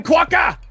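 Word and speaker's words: quokka: in western australia um rhymes with mocha mumbo quacker there you go quacker there you go uh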